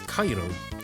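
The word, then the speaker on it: カエル: Now I know how frogs were pronounced. Yeah, just called frog. Now, frog's name in the Japanese version is Cairo, uh, which I believe is both the Japanese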